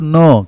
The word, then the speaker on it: know: I think, I know, KNOW, no. K உச்சரிக்க கூடாது, ஆனால் எழுதணும். உச்சரிக்கிறது எப்படி தெரியுமா உச்சரிக்கணும்? KNOWவை NO நோ சொல்கிறோம் பார்த்தீங்களா, அந்த உச்சரிப்பு இருக்கணும்.